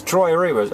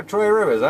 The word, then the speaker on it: Trois-Rivières: It's Trois-Rivières. Oh, Trois-Rivières, I know, okay.